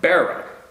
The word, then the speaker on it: Barrow: how to pronounce it pronounce like bow and arrow Barrow got you man I've